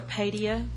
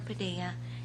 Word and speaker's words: Padilla: homes there thank you Miss Garcia Padia 9375 Shepherd Beaumont Texas spam good afternoon mayor city council members my name is Padilla and although I mispronounced that that's all right